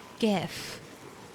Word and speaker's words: GIF: I say gif. Say gif. The G in gif stands for the word graphic. So, it has to be a hard G p.